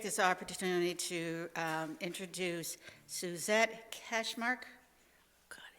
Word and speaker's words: Kachmaryk: And right now, I'd just like to take this opportunity to introduce Suzette Kachmaryk.